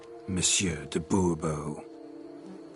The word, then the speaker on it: de Bourbeau: I expect you to address me as Sir, or better yet, as Monsieur de Bourbeau. Fine. Monsieur de Bourbeau. The emphasis falls on the last syllable.